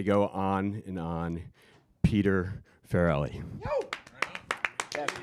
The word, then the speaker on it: Farrelly: You hear, I swear, it's like one of those things that people say it two different ways, and you're always like, what is the right way to say it? Right. I got it. Yes, Farrelly.